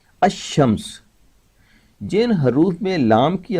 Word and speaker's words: الشمس: رکھا گیا ہے کہ جب شمس کے پہلے یا الف لام لگایا جاتا ہے تو لام کی آواز ظاہر نہیں کی جاتی۔ الشمس جن حروف میں لام